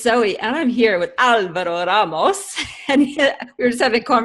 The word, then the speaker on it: Alvaro Ramos: And we were just having a conversation about how to pronounce his name. And most Aussies are troubled by the rolling of the R's, I think, whereas that's pretty easy for a French-speaking Canadian like me. In any case, Al is